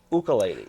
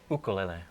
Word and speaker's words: ukulele: You pronounce it ukulele. Right. In Hawaii, they pronounce it ukulele. That's right. Ukulele. Yep. Yeah. Even though there's a lot of Hawaiians that pronounce it ukulele, so Right. it's actually okay.